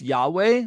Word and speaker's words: Yahweh: Um, which is usually pronounced Yahweh, although we don't really know how the ancient Israelites pronounce the divine name.